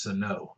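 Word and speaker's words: Sanó: It's pronounced Sano.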